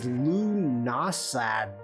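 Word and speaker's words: Lughnasadh: It's pronounced Lunasa. There's a whole ton of bunch of letters in there for Lunasa.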